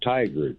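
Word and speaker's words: Tigard: You know, it almost sounds like tiger, but it's tiger.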